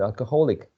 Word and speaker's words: alcoholic: I mean, I like it because of the pronunciation changes, the stress shift. If you see in Nelson's third example, his childhood was difficult because his father was an alcoholic.